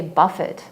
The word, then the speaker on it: buffet: faith and buffet is a funny word because it's spelled be uff et right so it looks like you should say Buffett and there is actually an English word that's